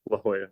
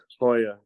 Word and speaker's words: La Jolla: Not all of the new Somewhere ones out of Hoya. Oh my goodness. I believe Wildfire's using two factories as well. Okay. Gotcha. Yeah, some of it's out of La Jolla. Yeah. La Jolla. I mean, Hoya.